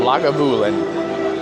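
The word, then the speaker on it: Lagavulin: It is spelled like it sounds, it is L A G A B U L I N Labulin 16-year.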